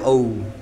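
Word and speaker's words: owe: berhutang Budi pernah Heeh itu bacanya ou saya berutang Budi padamu I ow you I ow you money saya berutang money e berutang uang I ow you money ou o w e bacanya ou kalau ini O O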